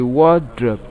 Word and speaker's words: wardrobe: on the first syllable, while option C, wardrobe, takes its stress on the first syllable, while option D, vomit, also takes its stress on the first syllable.